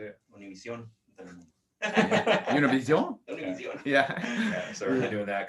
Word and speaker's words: Univision: Univision.